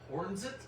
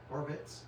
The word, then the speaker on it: Horvitz: Thomasite Richard Hornsit. I probably pronounced that wrong and I'm sorry. Horvitz.